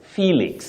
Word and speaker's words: Felix: You say Felix, you also say helix, not helix. Okay. We see Felix from the spelling, but you pronounce that name as Felix.